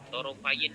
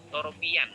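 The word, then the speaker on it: طرفي: belum paham ini biasanya kita membacanya adalah torofian ya, torofian, karena harokatnya itu kalau dalam Al-Quran kan tumbuk-tumbuk ya. Sebenarnya adalah torofayin nahari, itu berasal dari torofaini an-nahar.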